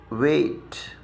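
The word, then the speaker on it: weight: तो देखिए इनका प्रोनाउंसिएशन वेट, और ये है डेन।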